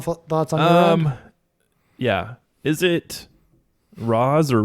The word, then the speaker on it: Ra's: um yeah is it ra's or race so I've heard arguments for both yeah I always grew up thinking it was racial right because I mean traditionally in the comics it is pronounced race but because uh racial